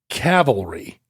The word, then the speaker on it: cavalry: Is it cavalry or cavalry? Which is the right one in this context? I never get it right. What do you think it is? Horses, cavalry. Yes. And you said it right. And I think you always say it right and then you doubt yourself. Yeah. What you need is the courage of your convictions. And Calvary is the biblical hill.